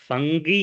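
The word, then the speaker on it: fungi: फन फंगी फंजाई फंजाई फंगी फंगी को ही बोलते हैं। फंजाई बहुत लोग गांव में फंजाई फंजाई भी बहुत लोग बोलते हैं। तो फंगी बोलते हैं। फंगल इंफेक्शन को फंगी बोलते हैं। और फंगी क्योंकि स्पेलिंग में जी होता है तो फंजाई फंजाई बोलते हैं बहुत लोग।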